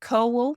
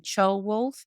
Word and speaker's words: Ceolwulf: So I refer to it as both, but yes, it's about Ceolwulf, which is not the right way to say it. I think you should call him Ceolwulf, but I've got used to calling him Ceolwulf, and he was Mercia's last king.